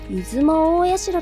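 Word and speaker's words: 出雲大社: 、正式な読み方は出雲大社と言います。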